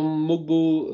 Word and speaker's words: Mogbo: pour revenir à Jonathan mogbo euh les Américains disent mobo d'ailleurs il prononce pas du tout le G je crois euh joueur de